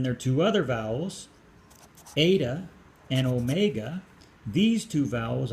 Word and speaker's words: eta: Okay, so eta is pronounced A, eta, A, and omega, O.